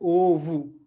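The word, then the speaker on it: ovo: तो कोई भी शब्द पुर्तगाली में अगर ओ पे खत्म होगा तो उसका उच्चारण ऊ होगा, ठीक है, बोलू, या यहाँ पे ये जो शब्द है ओवू, ठीक है, तो बोलू और ओवू, ठीक है।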